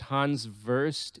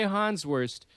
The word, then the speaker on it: Hans Wurst: hans wurst um and perhaps that's pronounced hans verst if you're i don't know how to speak german but this shit's funny so i'm going to say han's worst and if anybody corrects